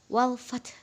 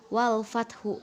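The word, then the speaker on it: والفتح: Jadi huruf terakhirnya itu dibaca lemah. Jadi wal fath, bukan wal fathu, bukan ya.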